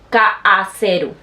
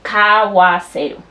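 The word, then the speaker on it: 買わせる: Ese que termina en U no se dice kaaseru. Eso no se dice, se dice kawaseru.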